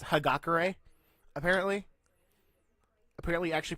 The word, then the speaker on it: Hagakure: Honaker even though apparently his pro name is pronounced hagakure apparently we actually pronounce it like her Gaga